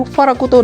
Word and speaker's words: Pharact: Dan kali ini kita akan review si Hage Gundam Farak atau Farakuto dalam pelafalan Jepangnya. Nah, jadi si Gundam Farak